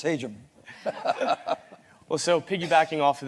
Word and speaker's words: Hajim: year and go out learning how to pronounce my name correctly it's haum hajim sounds much better but it's haum well so piggybacking off